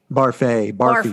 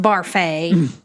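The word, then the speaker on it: Barfée: Barfy. It's pronounced Barfay.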